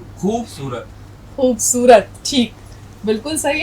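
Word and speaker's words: خوبصورت: खूबसूरत।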